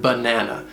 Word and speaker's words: banana: Look at the word banana. It has 3 syllables, and the first and last syllable have the unstressed schwa sound.